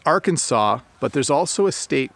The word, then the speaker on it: Arkansas: to pronounce because it's Arkansas but there's also a state called Kansas and they look like they have this they have somewhat the same spelling but they're pronounced differently Gloria says your place